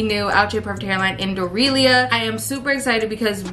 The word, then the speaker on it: Dorelia: all my other videos I've been calling this wig dornelia like the way I be giving these wigs new names and new pronunciations y'all also told me